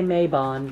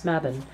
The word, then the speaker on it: Mabon: People say Mabon, but it's Mabon.